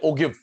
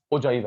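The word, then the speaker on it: ogive: Teacher student इससे बोलते ओगिव, ओजाइव है ये। ओके सूर्याश, बिंदर साहब, ईश्वर, सुमित, किशन, सेजल, अदिति, विधि। ओगिव नहीं, ओगिव गलत प्रोनाउंसिएशन है, ओजाइव।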